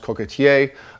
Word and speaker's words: coquetier: In French, that's pronounced coquetier.